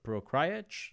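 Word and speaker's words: Procházka: I believe Reyes is fighting Jiri Prochazka. That's how you say his name. Let me. Prochazka. Whatever, however you pronounce the Czech guy, however you pronounce his name.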